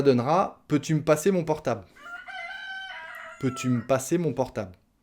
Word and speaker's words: portable: portable s'il te plaît j'ai encore mangé le elle et le e parce que s'il te plait ça commence par une consonne s s'il te plaît peux-tu me passer mon portable s'il te plaît mon